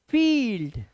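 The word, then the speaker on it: field: ई आ गया है ठीक है देखो जैसे फील्ड क्या पढ़ेंगे फील्ड बिलीफ बिलीफ ती एक चीज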